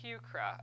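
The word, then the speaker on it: Heuchera: Oh, pronounced Hucra.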